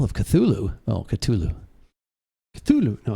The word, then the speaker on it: Cthulhu: Call of Cthulhu. Oh, Cthulhu. Cthulhu. No, it's Cthulhu.